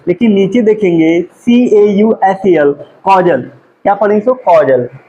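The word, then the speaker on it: causal: इसको कैजुअल पढ़े, इसको कॉजल पढ़ेंगे। ठीक है, कहीं ना कहीं प्रोनाउंसिएशन में काफी सिमिलरिटी है, ठीक है, लेकिन इसको कैजुअल, इसको क्या पढ़ेंगे, कैजुअल, इसको क्या पढ़ेंगे, कॉजल, कॉजल।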